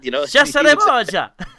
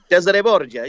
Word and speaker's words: Cesare Borgia: was an Italian family, we're over dramatizing the Italian pronunciation of his name, which we I would say that's the way it's actually pronounced. That's the way my father pronounced it. Cesare Borgia.